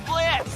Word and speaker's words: Blitz: The name's Blitz, the O is silent, and I'll be your assassin today.